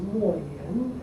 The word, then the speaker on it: Mo Yan: 他本来姓管, his surname is Guan Mo Ye, but he uses Mo Yan as a pen name. It rhymes with Mo Ye, of course, but the story is